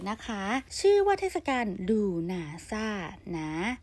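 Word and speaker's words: Lughnasadh: เทศกาล ถัด ไป นะ คะ ชื่อ ว่า ทศกัณฐ์ ดู หนา ซ่า หนา สะกด เป็น l u g h na SA a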